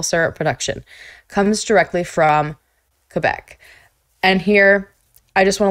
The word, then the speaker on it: Quebec: I always called it Quebec, like Quebec, pronouncing the U.